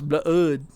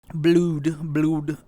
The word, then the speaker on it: blood: Blood. So it's like blue. No, it's blood. Blude.